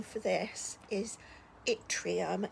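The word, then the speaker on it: yttrium: name for this is Atrium I think is how you pronounce this but it's with a Y so this is also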